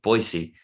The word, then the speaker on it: Boise: As they say Boise. Everybody else says Boise, but in that city they pronounce it Boise.